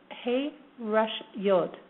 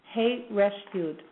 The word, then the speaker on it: Hey Resh Yod: And this name, again, the common name is Long Range Vision, and the way the name is pronounced is Hey Resh Yod. Hey Resh Yod.